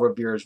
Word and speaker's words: Revere: why we remember Paul Revere by the waist because his name is last name rhymes with word here when it comes to